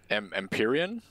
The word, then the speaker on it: Empyrean: your fan boy or the Empyrean is how you pronounce it the I could see